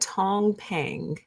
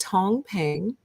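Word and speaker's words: 躺平: lying flat in chinese lying flat is called tong pang and the only reason i know how to pronounce that is because i heard someone who knows how to read chinese say it but otherwise i would not have known so but it is pronounced tong pang and it is the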